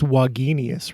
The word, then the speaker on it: Wagenius: I'm tempted to say Wagenius. Do you get that a lot? I get that a lot, and to be really precise, it's 3 syllables, Wagenius, with the emphasis on the middle syllable.